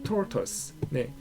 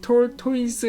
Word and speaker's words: tortoise: Nate the Great and the Tardy Tortoise. 이 tortoise 하지 마시고 tortoise라고 발음하셔야 돼요. 이거는 그 OI가 OE로 발음되지 않는 이상한 경우예요.